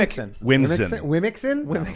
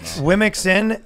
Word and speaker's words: WOMXN: What's the the proper pronunciation of I think Wimixin? Wimixin.